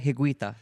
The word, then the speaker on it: Higuita: His name is René Higuita.